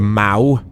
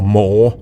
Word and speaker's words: Maw: It's called the Maw. Or Maw. It's spelled M-A-W.